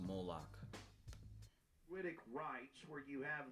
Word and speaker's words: Moloch: It is a mixture of the Babylonian Canaanite cult of Moloch fused with ancient It's pronounced Moloch.